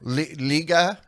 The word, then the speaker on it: liga: for the most part just remember liga is you know just like league so okay liga oh